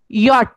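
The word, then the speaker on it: Jot: Okay, day, ए, एफ, गे, हा, ई, यॉट। अब जैसे जे, जे हम लोग इंग्लिश में प्रोनाउंस करते हैं, लेकिन जर्मन में हम लोग उसका प्रोनाउंसिएशन जे नहीं करते, यॉट करते हैं।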